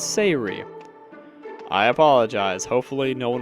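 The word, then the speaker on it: Say'ri: been mispronouncing sarees name it's not sorry it's Sayuri I apologize hopefully no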